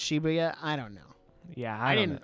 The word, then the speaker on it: Shibuya: I don't know uh shabuya shabuya I think it's technically pronounced Shibuya I don't know yeah